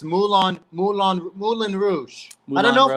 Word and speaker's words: Moulin Rouge: Moulin Rogue. All right, Moulin Rouge.